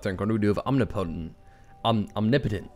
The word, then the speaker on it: Omnipotent: that I've been living life I've actually been pronouncing omnipotent incorrectly it's omnipotent so I must have sounded like an idiot